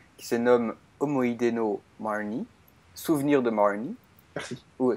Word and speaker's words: Marnie: T'as pas besoin de le prononcer avec un accent anglais puisque c'est un film japonais.